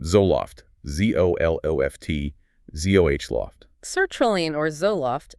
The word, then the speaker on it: Zoloft: Sertraline, pronounced Sertraline, and its brand name, Zoloft. Zoloft, Zoh-Loft.